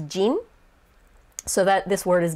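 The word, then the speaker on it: 人: in japanese is hito but it's not pronounced bihito because hito is not the only of that character the onyomi of that character there's a few but in this case it's jin so that this word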